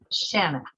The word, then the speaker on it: Shanna: Yes, and it's pronounced Shanna, like a Shanna. banana.